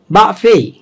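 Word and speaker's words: buffet: তারা শব্দ শুনে, শব্দের যে ভেরিয়েশন, এই যে বললাম, ধরা যাক আমি বুফের উচ্চারণ করছি, বুফের 3টা উচ্চারণ আছে, বাফেই, বাফেই, বুফেই।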